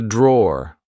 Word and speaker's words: drawer: This is a drawer, like I said. Be careful, because in British English we don't pronounce the E at the end. We just say draw.